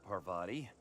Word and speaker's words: Parvati: actually apologize for that it's parva not pavari parva my bad Parvati all